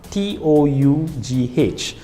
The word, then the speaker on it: tough: example the word tough t-o-u-g-h so the g-h is pronounced on the earth it's tough right let's take the word